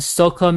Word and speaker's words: soca: And also it goes with calypso and soca music. I think that's pronounced like soca, SOCA.